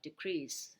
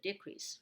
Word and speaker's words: decrease: a verb right uh we know two pronunciations uh for this word uh decrease and decrease right and then uh